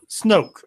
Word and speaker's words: Snoke: How do you pronounce his name? The villain? Yeah, the big evil guy. Oh, is it Snoke? Snoke.